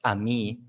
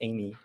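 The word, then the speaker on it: Amie: Which, by the way, I was roasted because I thought the pronunciation was Ami the other day, Yeah. and Pedro exposed me to the CEO of Amy, and apparently it's Amy. It's not French.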